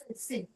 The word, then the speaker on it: Sejm: How do you pronounce that, Shelly? Sejm.